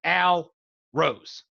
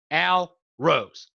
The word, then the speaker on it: Al Rose: one thing straight here the name is al rose okay get it two words two syllables al rose don't call me got it okay al